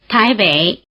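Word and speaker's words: 台北: Táiběi Běijīng Yǒngpíng Bǎodìng The syllable "běi" which means north is in the low tone.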